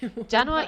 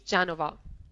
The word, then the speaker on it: Genova: anything proper in English janova is the the English word but Italian is Genova is different all I can think